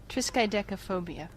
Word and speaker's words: triskaidekaphobia: of the number 13 this is how you pronounce it triskaidekaphobia yeah you all do it again triskaidekaphobia I'm